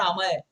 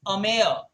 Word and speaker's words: Ameya: By the way, please pronounce my name correctly. It's not Amay. It's Ameya.